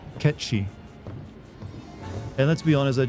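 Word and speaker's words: Cait Sith: a Scottish accent but his name can't be pronounced the Celtic way well that's because everyone would make fun of it it's if you pronounce it the correct way it's ketchy and let's be honest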